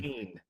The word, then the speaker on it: Cain: Did you say Yeah. Kine? It's kind. Kane. That's how they It's pronounce it Kane. in every time it's voice acted now. But you know what? Every time it's pronounced, Doesn't matter. it's wrong. You would think it should be So- Kane because, like, Cain Abel is how it's spelled No, out, but I'm